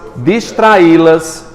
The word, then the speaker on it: distraí-las: Primeiro, vamos identificar a tonicidade dessa palavra. Calma. Tonicidade dela está em qual sílaba? No I. Beleza. O las não conta. Esse I é oxítona.